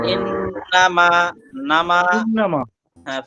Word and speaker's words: إنما: বা ইন নামা, এই যে নামা টান হইলো, নামা হবে, নামা টান, না টান নেই। বা ইন নামা, নামা, إنما হ্যাঁ ফা ইন নামা, إنما ও ফা ইন নামা।